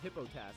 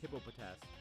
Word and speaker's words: Hippopotas: but now I can I thought it was just called hippo task I didn't know it was hippopotas I mean I didn't